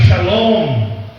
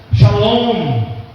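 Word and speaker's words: שלום: Então, shalom, então a gente pronuncia um M, bem fraquinho, shalom, shalom.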